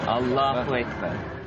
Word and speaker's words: Allah: well complications of language infliction is on the second syllable Allah I think we have